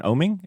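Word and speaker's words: Oeming: and for Blue Book I see Michael Avon oming is that how you say his name yep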